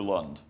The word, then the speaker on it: Lund: Lund or Lund? Lund. Lund, okay, I said it right the first time.